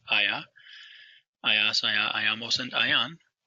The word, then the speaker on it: haya: which is shown on the bottom left, H-A-Y-A, pronounced aya, ayas, aya, ayamos, and ayan.